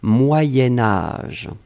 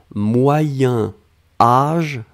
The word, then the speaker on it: moyen âge: Et puis, faites attention, quand on va le lier avec âge, on va faire cette petite modification de prononciation, on va dire moyenne, moyen âge. Hein, c'est pour ça que vous avez peut-être entendu moyenne, mais en fait on écrit moyen. Moyen âge va être prononcé moyen âge.